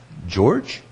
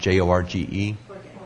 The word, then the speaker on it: Jorge: This is from George? It's got to be pronounced different than that. Jorge? Jorge, thank you.